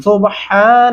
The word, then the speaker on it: سُبْحَانَ: یہاں پہ بہت سارے لوگ کیا غلطی کرتے ہیں، سبحان الذی، سبحان نہیں پڑھتے، ہا کو باریک ہا لمبا کرتے ہیں، صبح، اس کو بہت